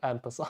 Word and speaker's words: en passant: Yeah, but the proper says, in a written way, the first letter is en, so en passant. Yeah. But in an English, we have some pronunciation of just saying, skipping that the first syllable. To sound more French.